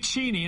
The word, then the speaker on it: Cheney: Dick Cheney, and that's how you pronounce his name, was out last night